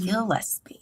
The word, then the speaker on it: Gillespie: Gillespie, like a fish.